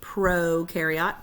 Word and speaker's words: prokaryote: Prokaryote, pro rhymes with no nucleus.